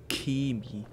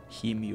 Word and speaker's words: Chemie: Das heißt Chemie. K. CH wird in diesem Fall mit K ausgesprochen. Nicht Chemie oder Chemie.